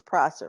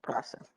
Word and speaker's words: Prosser: Ms. Prosser, I keep saying it wrong. You told me it's Prosser, right? Okay, Prosser.